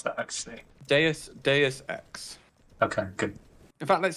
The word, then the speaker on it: Deus Ex: How do you pronounce that, actually? Deus Ex.